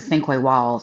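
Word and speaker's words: Sinqua Walls: I think you pronounce it Cinque Walls.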